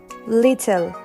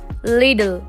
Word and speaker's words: little: They say little, little. If you focus on my pronunciation, I'm adding the letter D in this word little and I say little, little.